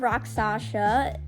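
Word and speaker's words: Rakshasa: of rock shasa aka the hardest name to pronounce on any dive coaster but anyways Wrath of rock Sasha I said it right there let's go it's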